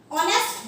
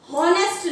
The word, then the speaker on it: honest: अब यहाँ पर H साइलेंट है, इसे हम बोलेंगे ऑनेस्ट। किसे क्या बोलेंगे? इसे ऑनेस्ट। इसमें H साइलेंट है, इसे हम हॉनेस्ट नहीं बोलेंगे।